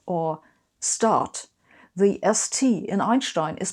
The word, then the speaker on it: Einstein: Most importantly, the German ST is not pronounced st as you would in English, for example in first or start. The ST in Einstein is pronounced st, Einstein.